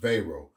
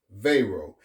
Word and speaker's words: Wero: They launched Vayro spelled W O pronounced VO. It is operated by the European payments initiative. Veo is not a card network.